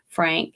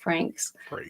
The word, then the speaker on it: Frakes: Frakes. That's how you say his name. I always say Frank. I don't know why I do that. Frakes. But I meant Frakes.